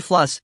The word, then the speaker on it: Fluss: plus is my name he pronounced it to rhyme with truss he held out his hand looking expectantly at slider as though he expected the name to be recognized yes Mr Fluss slider said managing with